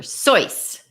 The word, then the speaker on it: Seuss: Dr Seuss and did you know the actual pronunciation of his name is Dr soyce my son did a project and sure enough